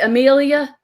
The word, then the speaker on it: Emilia: Amelia? Yeah. Okay, thank you. I didn't want to mispronounce it.